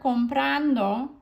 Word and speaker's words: comprando: that third syllable or you can just hear comprando right where that stress was from the beginning and